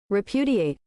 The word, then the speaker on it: repudiate: Repudiate.